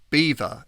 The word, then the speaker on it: Belvoir: But the local Saxons struggled to pronounce it, and eventually the name Belvoir emerged.